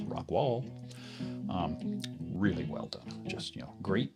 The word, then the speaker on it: Rockwall: The Bear, which is spelled Bexar, by the way, the Bear slip joint, and this one, the Rockwall, not Rockwell, Rockwall.